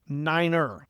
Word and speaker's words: niner: Nine is niner. Trust me, it sounds weird, but it really does help the receiving end when you have bad audio.